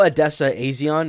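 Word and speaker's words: Odessa A'zion: I know Adessa Aison is how you say it.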